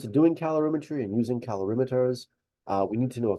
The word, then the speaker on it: calorimeter: So measuring heat energy, heat changes, that process is done in a device called a calorimeter. That's how you pronounce that word as well.